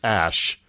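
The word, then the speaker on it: X Æ A-12: Apparently, it's pronounced Ash, because you don't have to be in a cult to be stupid.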